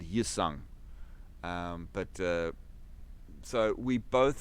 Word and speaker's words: Hyosung: In actual fact, the H is supposed to be silent. So it should be Hyundai and Yusung.